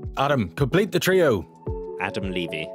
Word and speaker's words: Levy: Adam Levy. My surname is pronounced Levy, like leave me alone.